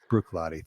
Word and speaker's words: Bruichladdich: I always forget how to pronounce Bruichladdich. it. Bruichladdich.